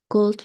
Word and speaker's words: could: the phone is ringing Could you pick up Yes pick it up the l is silent and in di kata